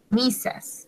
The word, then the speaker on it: Mrs.: Misas. Se pronuncia misas.